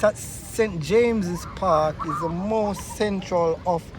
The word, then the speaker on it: St James's Park: that out right right St James Park uh pronounced at St James's Park is the most Central of the Royal Park